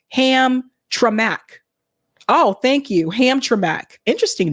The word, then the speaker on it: Hamtramck: Hamtramck is pronounced Hamtramck.